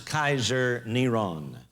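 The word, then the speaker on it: קיסר נרון: five volume set this his name was pronounced as Kaiser neron and you can see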